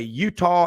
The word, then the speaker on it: Eutaw: Here's another one from, I like this one, Jane Hathaway, Utah, Alabama. That's spelled EUTAW over in Greene County in the Black Belt.